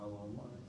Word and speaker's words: Allahumma: Allahumma Coba baca Allahumma jadi jangan Ca Allahumma Allahumma haknya H besar Allahumma Allahumma apabila